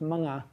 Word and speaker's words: mga: Um in Tagalog, the plural morphe is pronounced ma.